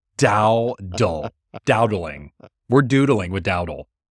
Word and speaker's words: Dowdle: It's Dowdle. Dowdle.